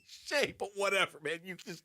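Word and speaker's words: Shai: He's not shy. He's shay.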